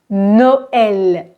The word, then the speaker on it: Noël: chaque voyelle séparément cependant le E va se prononcer comme un e ouvert et par exemple Noël mon neveu s'appelle Ismaël